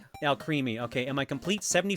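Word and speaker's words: Alcremie: Alchemy is how you say it. Like alchemy. And my creamy. Al creamy.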